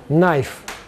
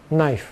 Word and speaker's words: knife: Knife. Ножик. Knife.